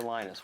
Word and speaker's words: Linus: When I speak English, it's Linus. And I really don't care how people pronounce my name. But Linux is always Linux.